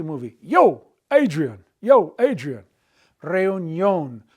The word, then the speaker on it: reunión: By putting the accent mark on the O, we keep the diphthong intact and we get the yo sound, like the Rocky movie. Yo, Adrian. Yo, Adrian. Reunión. Reunión.